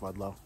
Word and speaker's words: Ludlow: uh we're back in ludlow uh dave it's pronounced ludlow um i wanted to show you more of